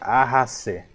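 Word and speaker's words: ahase: Vimos que acá tenemos ajase, así se pronuncia, ajase, ajase. Esta H tiene como si fuera la expresión del H del inglés, ajase.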